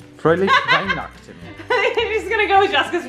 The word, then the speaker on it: Fröhliche Weihnachten: Fröhliche Weihnachten. That would be my guess. I think you're right. Fröhliche Weihnachten.